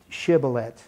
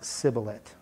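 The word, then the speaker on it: shibboleth: this message it needs to be able to pronounce shiblet and not sibilit so I know went over a little bit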